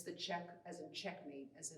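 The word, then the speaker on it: Czech: is my second painting this painting is called check uh it's spelled c-z-e-c-h but it's actually a pun on the word check which is in itself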